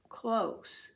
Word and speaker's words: close: it will be pronounced close, like close the door. This is an adjective. The vote was close. It was a close vote, so it's an S sound.